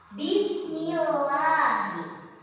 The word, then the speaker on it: Bismillahi: Bismillahi. Bismillahi dibacanya itu harus tipis lafaz Allahnya. Kedengarannya tipis dia berbunyi a.